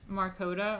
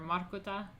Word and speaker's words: Markota: How would I pronounce my surname? I mean, there's Marcota or Marota. A few asking me how like Croatian way. Marota. Marcota.